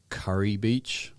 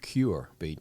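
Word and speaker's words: Kure Beach: Curry Beach. Curry Beach. Like it's spelled another, Kure. We would say cure. Cure Beach. As in cancer cure.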